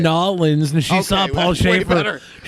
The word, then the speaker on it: New Orleans: with a boy so i hate it when people say new orleans why god damn it orleans yeah new orleans that's not how it's said how do you say it netherlands that's how uh my grandmother was in nollins and she saw paul